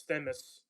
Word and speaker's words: Themis: I fucking mispronounce this all the time. It's close enough. It is Themis, yeah.